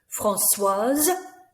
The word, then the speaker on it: Françoise: Françoise, the E again makes us pronounce that S sound.